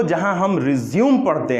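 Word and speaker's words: résumé: हमारा स्ट्रेस जो होगा, the stress should be on ridge पे हमारा स्ट्रेस होना चाहिए। सो रिज्यूमे, रिज्यूमे, सो इट इज the word रिज्यूमे।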